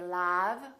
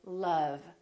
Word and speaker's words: love: And once in a while, this sound is also spelled with the letter O, as in words like love. We don't say love, we say love.